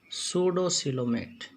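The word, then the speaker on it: pseudocoelomate: These are सूडोसिलोमेट। P silent है इसमें।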